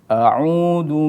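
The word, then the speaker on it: أَعُوذُ: Baik, ketika membaca ta'awudz, kita harus memperhatikan pengucapan huruf hamzah dan ain. Contohnya a'udzu. Kemudian ketika kita mengucapkan dhammah itu harus sempurna dalam pengucapannya. A'udzu. Nah, di situ ada ain yang berdomah kemudian ditambah mad, maka harus dipanjangkan a'udzu.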